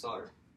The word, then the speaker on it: solder: In 19th century English, the L would have been omitted and the word was pronounced solder. So, either pronunciation is okay.